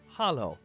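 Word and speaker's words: Halló: hello in Icelandic is pronounced Hollow thank you is talk yes is yah no is nay goodbye is bless 14.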